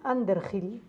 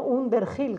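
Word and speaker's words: Underhill: la mística de Evelyn anderhill se escribe Evelyn como evelina y ander Hill debajo de una colina en inglés no Under Gil con h es un libro extraordinario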